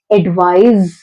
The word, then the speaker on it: advise: Last में हमको स का साउंड लेकर आना है. एडवाइस, एडवाइस. जहां पर सी है वहां पे हमको एडवाइस लेकर आना है एंड जहां पर एस है वहां पे हमको जेड का साउंड लेकर आना है. एडवाइज, एडवाइज.